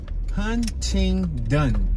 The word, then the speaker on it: Huntington: on 28th and huntington huntington hunting done that's how it's spelled it just it sounds so foreign to me even though i've been looking at huntington since i was a kid but you hear how i said it huntington huntington we're not